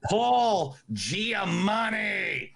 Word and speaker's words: Giamatti: then Paul Giamatti. Good job, by the way. I was sure you didn't get the name wrong, but you did not.